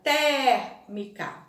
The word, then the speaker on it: térmica: a gente observa né a palavra térmica né a letrinha a ela é mais aberta térmica e na palavra deve